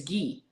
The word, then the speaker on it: Guy: Tori but he said the proper pronunciation in French is ghee and it rhymes with sorry Tori so he was